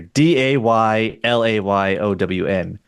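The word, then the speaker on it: Daylayown: d a y l a y o w n that's just my last name pronounced day lay own.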